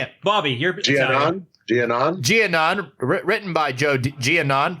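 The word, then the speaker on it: Giannone: Giannon.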